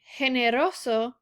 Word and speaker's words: generoso: have generoso versus gato so notice in generoso the g sounds like an h because the e is following it but in the word gato it sounds like a normal g sound because there is an a following it the next fact is